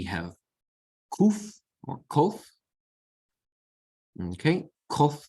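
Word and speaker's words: קוף: Okay, kof is k, as in kitty, again, okay, like kaf, kof, kaf. Kaf with the dagesh makes the same sound as kof.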